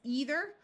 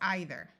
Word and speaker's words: either: This word could be pronounced with a long E sound as either or with a long I sound as either. The same with this word.